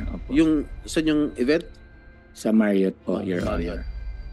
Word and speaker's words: Marriott: sa Ba't Marriott i-pronounce it? Hotel Gala o po. gala? Oh. Sa Marriott Hotel po, Marriott.